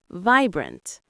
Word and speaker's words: vibrant: Vibrant. Vibrant. The stress is on the first syllable. Vibrant. The I sound is long like an ice.